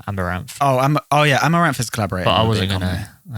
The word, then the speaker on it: Amouranth: They're called how do you pronounce that? Amouranth. Amouranth. Oh no, That's the beer. that's her name, Amaranth.